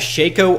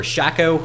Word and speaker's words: Shaco: early game next up I have shako or Shaco however you want to pronounce it shako is one of